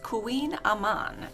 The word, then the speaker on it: Kouign Amann: pronunciation nancy i can't even pronounce it the pronunciation um it is queen amman and it literally means butter cake and she